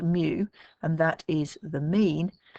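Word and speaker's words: μ: The two parameters, okay, are this one here, which is mu, it's pronounced mu, and that is the mean, and this one here, which you've met before, which is the variance.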